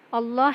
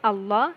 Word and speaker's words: Allah: okay then in bismillah Allah here the lamb in the world Allah can be pronounced in two ways that is first one is the frame that is with a full mouth um law that is